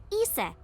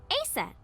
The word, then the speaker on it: Isis: Horus's mom is named Isis, but in ancient Egyptian, it's pronounced closer to Ise or Aset.